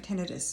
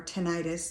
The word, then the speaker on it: tinnitus: Not that tinnitus, where you have a condition of tinnitus, and so you've got, or tinnitus, depending on how you like to pronounce it.